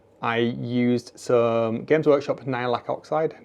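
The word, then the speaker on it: Nihilakh: see on nids I used some Games Workshop nailac oxide nailac is how you pronounce it their verdigre paint and I just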